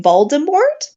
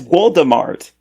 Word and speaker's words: Voldemort: you're saying is wrong do you mean voldemort no it's voldemort i i may have watched a russian version of the film so my pronunciation might be a little off but i'm sure it's